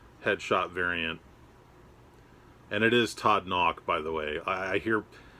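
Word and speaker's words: Todd Nauck: much it is not naok it is not nook it is todd knock it almost sounds like you're saying knock on the door but it's knock n-a-u-c-k knock knock like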